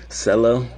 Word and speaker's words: Cello: It's pronounced Cello. I always tell people Cello, like Jello.